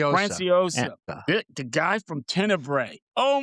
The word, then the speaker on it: Franciosa: I can't pronounce his last name again. Anthony, what was it again? Franiosa. Franciosa.